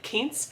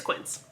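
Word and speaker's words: Quince: the name of the company because I was pronouncing it kin like K Anda so it's quins I'm actually doing a video with them that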